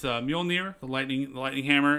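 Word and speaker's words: Mjölnir: is odin like thor has his hammer uh pronounced mjolnir the lightning the lightning hammer and then he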